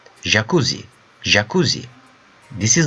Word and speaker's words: jakuzi: For example, how you pronounce the word treasure? Treasure. Treasure. Right? So that sound, J sound, in Turkish is a letter. It's a consonant. JAKUZİ. JAKUZİ.